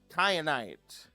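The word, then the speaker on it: kyanite: Then we have cayenite. This is spelled like cyan with a K.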